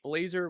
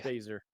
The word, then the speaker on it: Baszler: I know Blazer was trying to. Did I say her name right? Baszler. Yeah. Baser. Uh, no, Blazer's from Dodgeball.